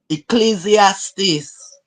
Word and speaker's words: Ecclesiastes: education they have credentials lady G how you pronounce that chapter in the Bible Echo something Ecclesiastes say it again Ecclesiastes Ecclesiastes that's right Ecclesiastes give her credit she didn't